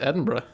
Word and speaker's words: Edinburgh: It is pronounced Edinburgh.